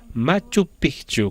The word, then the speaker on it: Machu Picchu: La pronunciación correcta es Machu Picchu, con un pequeño acento.